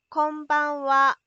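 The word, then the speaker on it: こんばんは: こんばんは。こんばんは。こんばんは。 Careful, the last bit is a particle, reads as wa and is spelled as ha.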